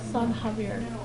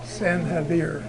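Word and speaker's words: San Xavier: of the church excuse me how do you pronounce the name of the mission uh sanir s air no San Havier San havir yeah very good thank you there a weird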